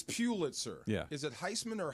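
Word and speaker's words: Pulitzer: so you know there's or Pitzer Pitzer it's Pitzer yeah is it Heisman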